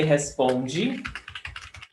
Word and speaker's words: responde: Você responde, eu respondi. The difference is in the stressed syllable. Você responde, the stress is on pom, responde.